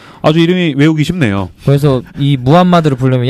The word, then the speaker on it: 무함마드: 중요한 인물이 있는데 누굴까요 무하 무하마 마드 이게 정확한 발음이에요 무함마드네 뚜둥 모하메 트는 뭐가 달라요 그게 다른 발음이 같은 건데 다른 발음네 원래 무함마드는 사람인데 이제이